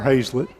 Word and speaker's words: Hazlet: Emma Haslet or Hazlett is it Hazel I thought it was it is no she told me that before the game and I've butchered it two or three times now it is Hazlet Somerset trying to get